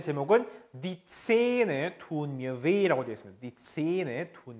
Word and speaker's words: weh: 자, 참고로 끝에는 weh라고 하는 표현은 에 모음이죠. 그다음에 하가 있죠. 모음 뒤에 하가 있으면 모음을 길게, 그렇죠? 왜 이렇게 길게 발음해도 돼요? 왜 말고 왜, 그렇죠? 니체는 마찬가지죠. 아 움라우트도 모음이죠. 모음 뒤에 하가 있으면 길게. 그래서 니체는 tun mir weh 이렇게 읽어주셔야 됩니다.